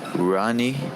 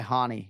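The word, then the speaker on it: Rani: you play yaya's file ronnie he does not go by hani he has americanized it he says ronnie yaya so uh that's all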